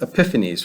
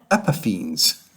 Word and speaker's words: Epiphanes: Okay, Antiochus Epiphanes, right?